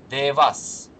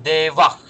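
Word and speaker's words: देवः: То есть ни один индус отдельно стоящее слово дева никогда не произнесет как девас. Он его произнесет как девах.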